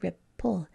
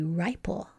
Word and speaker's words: ripple: If we didn't have it, then we'd have an open syllable and the I would say its name and that word would be ripple. If we want to have the short I, we have to have a closed syllable.